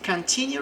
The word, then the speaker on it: continue: Veja que aqui no final falamos new. Como a dica prática, eu costumo falar que quando tiver o E no final da palavra, nós falamos EU. Então meio que inverte aqui o final.